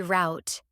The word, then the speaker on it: route: Root. Root like route 66. It can also be route as in what's your paper route.